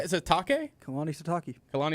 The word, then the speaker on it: Sitake: Sitake? Kalani Sitake. Kalani Sitake. Sitake.